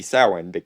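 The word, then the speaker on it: Samhain: movie is of course Sam Hayne or technically his name should be sa andic his Celtic pronunciation but then we wouldn't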